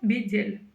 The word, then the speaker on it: бедел: Изначальное слово бедель. Вот и все. Буква Л в данном случае читается мягко, потому что перед ней стоит буква Е.